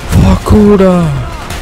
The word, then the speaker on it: Vorkuta: Vorkuta. So I guess I was correct on pronouncing this.